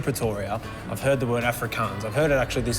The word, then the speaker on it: Afrikaans: So what is an Afrikaan? Afrikaans. Afrikaans. I was got an S on the end.